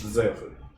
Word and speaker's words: Zeophid: It's Yes. pronounced Zeophid. Okay. I'm not gonna get that. Is that what Yes, is that Z? is how you spell. Okay, great.